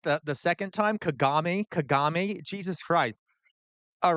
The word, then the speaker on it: Kagame: Hiori, I'd like to now invite President Kagum to Okay, well that Hey, he he pronounced it right the first time. He can't get it right the the second time. Kagame.